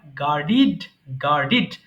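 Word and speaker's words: guarded: মানে পাহারা দেওয়া গার্ড গার্ডেড গার্ডেড আমরা জানি ডি থাকলে কিন্তু ডিড উচ্চারণ করতে হবে এটাই সঠিক আমরা সারাজীবন যেটা বলছি ডেড এটা ভুল এরপরে হেট মানে করা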